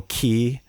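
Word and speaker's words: 気: in Chinese, but the same character in Japanese is pronounced ki with a hard K sound, just like English. And really, they're the same thing. If you take karate, you'd probably know ki.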